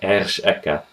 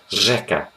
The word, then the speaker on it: řeka: You don't see here ersh eka, Ersh is not Ersh Eka. This means river, by the way. Instead, it's pronounced Řeka. Řeka.